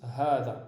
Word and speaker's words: هذا: Il s'écrit comme ceci, donc هذا, mais il se prononce comme si qu'il y avait un alif après le ha. هذا. D'accord? Donc ça c'est important de le mentionner. Ici ils l'ont mis en valeur avec un petit trait ici que l'on appelle l'alif al-khanjariya. Et donc ça se prononce hada, ceci.